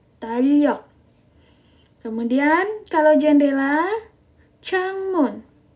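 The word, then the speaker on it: 창문: kalender talok Oke kalender tal Yok Oke kalender bacanya talok kemudian kalau jendela changmun Chang Moon oke bendela eh jendela bacanya changmun Oke kalau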